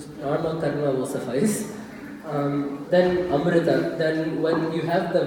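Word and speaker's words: अमृत: So it's amrita, not amruta. Some people pronounce it like a ru or a ri, right? It's its own thing. It's not amrita, it's not amruta, it's amrita.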